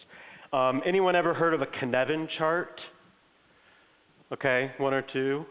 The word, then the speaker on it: Cynefin: Okay, Cynefin, and it does not look like it sounds. The word, it's like it's weird, isn't it? C-Y-G. Yeah, Cynefin. It's like Kevin with an extra syllable is what it is.